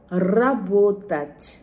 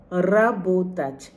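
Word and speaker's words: работать: যে আমরা র বলি এই র এর উচ্চারণটা খুব ঘুরিয়ে রোল করে গড়িয়ে গড়িয়ে এই র এর উচ্চারণটা হয় অর্থাৎ জিভের মধ্যে অনেক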